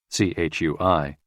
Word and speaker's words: chui: associated with the lungs c-h-u-i pronounced like Chui with a forceful exhale which is also associated